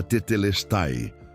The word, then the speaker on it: Tetelestai: A palavra que Florence redescobriu era Tetelestai, pronunciada tetelesti, fé específica na vitória de Cristo.